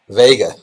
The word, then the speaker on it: Vega: Is her name pronounced Vega or Vega? Vega. Vega. Like Las Vegas, so Vega.